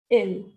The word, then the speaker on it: ils: we will use ILS, ill. The pronunciation will be same as ill. It is ill.